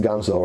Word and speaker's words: Ganzo: even pronouncing that right I know in Spanish it's pronounced Gonzo right so the Ganso knife